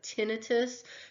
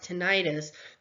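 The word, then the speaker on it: tinnitus: prefer the pronunciation of tinitus because the ending on this is i t s not i t i indicates some sort of inflammatory or infectious process right tinitus is not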